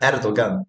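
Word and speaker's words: Erdoğan: E e a gente sempre vê jornalista pronunciando Erdogan, Erdogan, Erdogan não, Erdogan, Erdogan.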